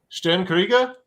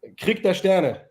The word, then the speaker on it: Krieg der Sterne: Sten Krieger, is that right?